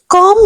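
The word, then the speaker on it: comb: कंगी को इंग्लिश में कम कहते हैं the word is कॉम this इ नॉट कॉम नो B will be silent year the word is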